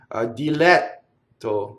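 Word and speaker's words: diletto: Dilɛtto. We already know how to do double T. And there's an open E. Notice that there's a single L.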